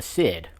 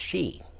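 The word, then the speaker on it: sidhe: looked that up and it's actually Irish folklore Gaelic and it's actually pronounced she now when I look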